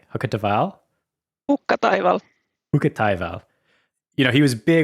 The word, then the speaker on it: Hukkataival: of Nali, and I don't know how to pronounce his last name. Hukkataival? Hukkataival.